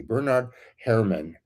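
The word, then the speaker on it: Bernard Herrmann: Um the the the soundtrack people I really really like um Bernard Her try to pronounce his name like like it's supposed to be. Bernard Herman.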